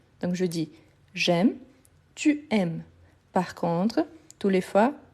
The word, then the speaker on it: aimes: c'est justement ici tu la marque du tu c'est le S ici à la fin je ne les prononce pas donc je dis j'aime je ne prononce pas le E parce qu' il n'y a pas d'accent ici non plus donc la prononciation de M m ici c'est la même donc je dis j'aime